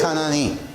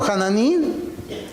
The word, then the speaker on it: Hanani: si así se pronuncia yo he aprendido a leer la H como J como una jota abierta hanani fue quien le